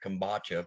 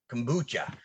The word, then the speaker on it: kombucha: this bottle of con i'd always pronounce this right kombatcha but kombucha so i forgot it